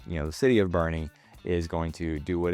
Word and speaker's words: Boerne: at some more information on Boerne, it is Boerne, not Born. Okay? The pronunciation is there on the city website.